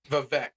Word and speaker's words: Vivek: Vivek. It's pronounced Vivek Ramaswamy.